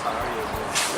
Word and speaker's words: Sarajevo: And apparently in Russian letters it's Kapayibo or something. They still pronounce Sarajevo. Really? C is S?